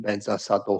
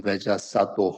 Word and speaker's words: Vajrasattva: So there are many ways of recite the pronunciations people do, all are correct. Om Vajrasattva Hum, Om Vajrasattva Hum, Om Vajrasattva Hum, or Om Benza or Vajra, all correct.